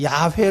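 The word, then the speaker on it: 야훼: 여호와 줘 여호와 그 여호와를 또한 야외 라고 발음하기도 합니다 그렇게 여호와 라고 하는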